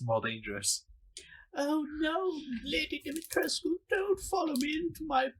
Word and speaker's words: Dimitrescu: Apparently, the E is silent first of all, so it's Lady Dimitrescu or something like that.